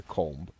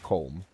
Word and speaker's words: comb: So So basically like the B is silent, right? It's a comb. A comb.